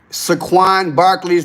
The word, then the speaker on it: Saquon Barkley: Pronounce his name right. Saquon Barkley's date of birth, football player.